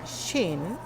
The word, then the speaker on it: Qin: rey brillante de jeans que se escribe q y n se escribe kim pero se pronuncia sin había derrocado al hijo